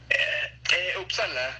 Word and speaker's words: Uppsala: Uppsala, así se dice en sueco y en inglés, es la misma pronunciación.